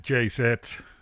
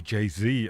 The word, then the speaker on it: Jay-Z: unparalleled yeah that was Jay set and I wouldn't be surprised if we heard Beyonce they're talking about Jay set but Jay said that a or jay-z I believe the American pronunciation is he did a version